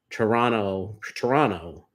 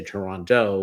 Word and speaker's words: Toronto: You know, um, believe it or not, I actually pronounced Toronto. And then I had to enunciate it for some people and say Toronto, which I found out that's how the tourists say it.